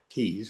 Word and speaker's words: Tews: She spells her name Tews, but it's pronounced like Tees.